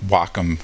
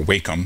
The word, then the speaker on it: Wacom: my home system uh I also use a Wacom uh or wake them depending on how you want to pronounce it uh into A4 tablet